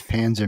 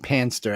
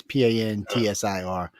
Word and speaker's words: Pantsir: after crash a prize Panzer missile system into a railway bridge in St. Petersburg. Wait, Panzer isn't that a German tank? Yes. I'm probably saying it wrong. It's more like Panster, actually. It's Pantsir.